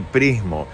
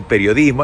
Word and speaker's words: periodismo: Dije pristas y prismo, y es periodistas y periodismo. Hay que pronunciar bien, basta de pereza vocal.